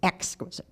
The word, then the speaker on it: exquisite: That's how my mother pronounces it, exquisite joy. Even though we debate about its proper emphasis.